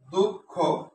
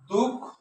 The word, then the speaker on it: দুঃখ: যেমন দুঃখ শব্দটা লিখলাম, দুঃখ, উচ্চারণ কেমনে করি, দুঃখ, আচ্ছা দুঃখ, এখানে থেমে গেছি, দুঃখ, খোটা আলাদা করে উচ্চারণ করলাম।